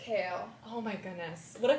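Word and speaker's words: Chaol: to like figure out what how do you pronounce CH kale kale she just told me this yeah I thought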